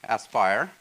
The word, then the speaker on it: Aspire: So we have, based on the cognitive capabilities we have built, we have launched this product, AI or Aspire, rhyming with AI, Aspire, and it takes the